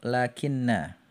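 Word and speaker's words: لكن: Nah, jika tidak memenuhi syarat, maka dia menjadi huruf lakinna. Ya, lakinna. Ini termasuk saudarinya inna ya kalau antum belajar ilmu nahwu. Atau huruf lakinna yang bacaannya diringankan. Ya, jadi bacanya lakin.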